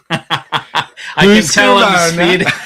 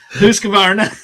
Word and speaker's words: Husqvarna: Mikey, that was not a bad try pronouncing Husqvarna. Husqvarna. I'm Swedish. Husqvarna.